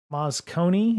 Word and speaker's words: Moscone: Moscone, is that how you say it?